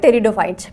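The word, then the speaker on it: Pteridophytes: ब्रायोफाइट्स are consider as P silent, sorry not ब्रायोफाइट, टेरिडोफाइट्स. पी is silent, right?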